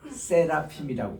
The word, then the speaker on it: 세라핌: 스랍을 우리 히브리 말로는 세라핌이라고 그래요. 세라핌. 우리 여기 운동 기구에 보면은 세라찜하고 발음이 비슷해요.